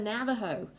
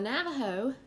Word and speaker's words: Navajo: then you have the navajo now the navajo um again you can see it's spelt with the j but it's pronounced with h and so it's sometimes